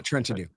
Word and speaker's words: Trentadue: Is that how you say it? Trenton Dew? Yeah, Trenton Dew.